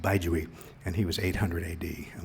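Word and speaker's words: Bai Juyi: And I mentioned Baizhui. It looks like Po Chu-yi, but it's pronounced Baizhui.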